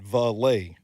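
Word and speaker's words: Vele: Yeah, I thought it was Vale, and I called him that throughout the entirety of the draft cycle. And then when I looked it up, pronunciation guide said Valet. Valet. Devon Valet. Like Goulet. Goulet.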